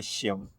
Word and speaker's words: Seun: Just call me Shim. It's easier to pronounce.